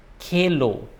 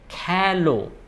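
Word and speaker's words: খেলো: ke li tumi calo it's not kelo it's not tumi kelo it is tumi kalo so ami kelly to me calo the pronunciation is more of a a sound and when it's first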